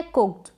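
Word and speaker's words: cooked: इसको कुक्ड गलत हो जाता है, सीखने की तरफ से आप कुक्ड बोलते हैं कई बार, लेकिन सही जो प्रोनाउंसिएशन सही इसको पढ़ा जाएगा कुक्ड, यानी ट का साउंड आएगा लेकिन थोड़ा कम आएगा।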